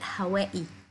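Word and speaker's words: Hawaii: هواي هي بتتنطق ازاي في امريكا بتتنطق هوائي ماشي هوائي عشان اخرها اي دبل اي اوكي ده مش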